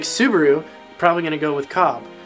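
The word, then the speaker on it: Cobb: probably gonna go with cob rhymes with knob should be easy enough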